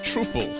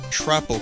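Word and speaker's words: Troupple: Oh, and he gets quite upset if you say it like Troople. He doesn't like troops. It's more like council or doubtful. The Trapple King.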